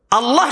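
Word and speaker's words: الله: কয় হ কতজনে কয় না টেনশনে পড়ে গেছে আল্লাহ শব্দের হামজায় কোন টান নাই ভালো করে বুঝেন হামজা লাম জবর আল হরকতের উচ্চারণ তাড়াতাড়ি করতে হয় সে আল্লাহু আকবার বলে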